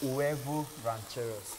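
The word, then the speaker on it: huevos rancheros: It's the pronunciation I want to get right. Huevo rancheros. Huevo rancheros.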